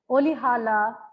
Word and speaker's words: Rolihlahla: Nelson Olihala Mandela. The R is pronounced very softly here. So it's Olihala Mandela, right?